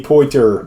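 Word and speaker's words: Poitier: stiger and um Sydney poier Sydney unless you're French then he's Sydney poter poter no not if he's French if you're American that's how you say it all right number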